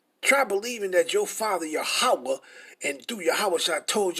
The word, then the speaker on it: Yahweh: Because ain't no U vowels in Paleo Hebrew. So you wouldn't be saying no Yahuwah. So how's our father Yahweh is Yahuwah and Yahweh shall name Yahusha?